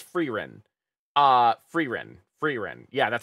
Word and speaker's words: Frieren: I've never been able to pronounce that. I think it's Frieren.